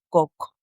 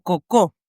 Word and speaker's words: Coco: de esa soledad nacerá coco o cocó. en realidad, cómo se sería eh bien pronunciado.